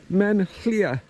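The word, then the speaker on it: Maen Llia: It's pronounced something like Men Llŷa.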